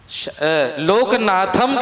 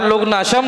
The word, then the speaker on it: लोकनाथम: तो आप सोचिए, लोकनाथम के जगह आप लोकनाशम बोल दिए हैं।